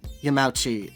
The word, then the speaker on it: Yamauchi: mr chef yeah that's pretty much the yamauchi yamauchi is the correct pronunciation yeah i didn't know that like i